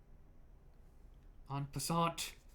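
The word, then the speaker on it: en passant: 1400 remember what i said about social life on passant that's how you pronounce it what is it uh and then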